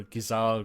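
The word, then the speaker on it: Gysahl: and they require 1 Geish greens to, or Gizal greens, as Lightning Returns has taught us how this is supposed to be pronounced.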